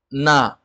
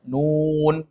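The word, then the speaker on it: ن: seperti misalnya di dalam Quran nanti ada huruf na jangan kita baca na Tapi bacanya Nun karena na nama Hurufnya huruf nun nanti jumpa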